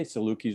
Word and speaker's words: Salukis: Did I say Salukis right?